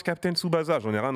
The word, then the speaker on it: Tsubasa: Donc voilà, on va me dire, ok, ça se prononce Captain Tsubasa, j'en ai rien à foutre.